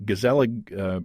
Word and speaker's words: Gezellig: And then when I got to reading about your brewery, Gezellig Brewing, and I assume I'm pronouncing that right.